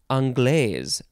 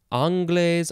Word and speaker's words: anglaise: And then this one is anglaise. Creme anglaise. And you can pronounce that a few ways. Anglaise, anglaise.